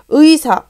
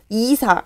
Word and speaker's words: 의사: 자, 그래서 첫 음절에 온 의는 오로지 의문 요렇게 발음하는 거야. 이중모음으로 발음한다는 얘기지. 됐죠? 의사, 의사, 이사 이렇게 발음 안 하죠? 자, 얘도 마찬가지로 의사 이렇게 발음하는 것이 옳은 표현이다.